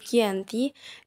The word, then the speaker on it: Giyanti: 13 Februari 1755 nama Gianti sendiri diambil dari lokasi perjanjian yaitu di desa Janti dalam pelafalan Belanda itu disebut Gianti dan secara tertulis ia terbaca ganti tempat tersebut sekarang dikenal